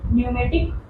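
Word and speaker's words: pneumatic: यहाँ न्यूमेटिक पी से start हो रहा है बट पी यहाँ पे साइलेंट रहेगा, हम न्यूमेटिक बोन पढ़ेंगे।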